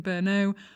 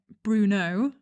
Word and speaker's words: Brno: when i was visiting brno i kept pronouncing it bruno instead of brno and everyone was basically